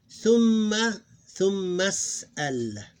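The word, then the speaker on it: ثم اسأل: So basically that's how we pronounce it. Thumma as'al, as if it's like this one word.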